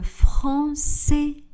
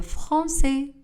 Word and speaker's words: français: J'apprends le français. Le S à la fin du mot français n'est pas prononcé. J'apprends le français.